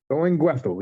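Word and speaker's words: Thuringwethil: Did I pronounce that right, KnewBetta? Durin-Gwethil, yes.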